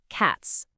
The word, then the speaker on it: cats: Say it out loud, cats. If you guessed the voiceless S, you are spot on. Because the letter T in cat is a voiceless sound, meaning your vocal cords